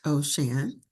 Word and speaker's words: O'Shan: Ocean, pronounced Ocean, uses this pen name to reflect her deep connection with and appreciation for water moving upon the earth.